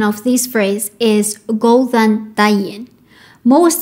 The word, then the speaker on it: Góðan daginn: diving yeah go and diamond so the correct pronunciation of this phrase is golden diamond most letters in Icelandic are the same as